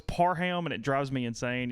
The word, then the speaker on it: Parham: I'm bad about restaurants of wanting to give a different name a lot of times because nobody can ever pronounce Parham. Oh, really? Yeah, it's Parham, and it drives me insane.